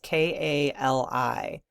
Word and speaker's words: Kali: It's K A L I. Kali is how AI is telling me to pronounce it.